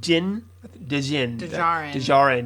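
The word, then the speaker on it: Din Djarin: the end of last season mando or jin jin dejian yes that's how you say it um you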